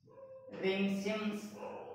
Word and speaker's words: Pringsheim: आज हम लोग रिंग सिम्स थ्योरम देखेंगे, ठीक है ना। बीएससी पार्ट टू का पेपर थ्री का इम्पोर्टेंट क्वेश्चन है, ठीक है। पी साइलेंट होता है, पी क्या होता है, साइलेंट होता है, ठीक है ना।